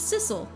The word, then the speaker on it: Sissel: oh oh I'm sorry I'm not missile my name's Sissel it kind of rhymes with missile sizzle my name is